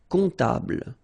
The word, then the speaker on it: comptable: Un comptable, so OM, remember, it goes like on, all right? And then, strangely, this P is not pronounced. Un comptable, all right?